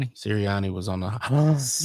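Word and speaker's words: Sirianni: Siri Sirriiani was on the You said it right.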